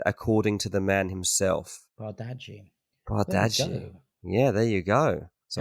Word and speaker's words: Bardghji: The accurate way to say his name is Rooney Bardghji. Bardghji. He said, according to the man himself. Bardghji.